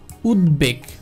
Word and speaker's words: উদ্বেগ: যেমন দেখেন উদ্বেগ, উদ্বেগ, এখন এখানে দ এবং ব একসাথে রয়েছে, অনেকে আবার এটাকে একসাথে উচ্চারণ করার চেষ্টা করবে, কিন্তু না, এটাকে আলাদা আলাদাভাবে উচ্চারণ করতে হবে, অর্থাৎ উদ্বেগ, উদ্বেগ, ক্লিয়ার?